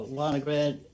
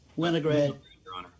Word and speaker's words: Winograd: a b garland uh mr uh linograd is that did i pronounce that correctly winograd all right thank you